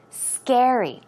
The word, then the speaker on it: scary: final word scary also it's not scary it's scary okay scary the syllable goes on the I mean the stress goes on the first syllable so some other words